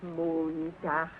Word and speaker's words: Montag: That is good, but pronounce the words broader, so Sonntag, Montag, Dienstag, yes?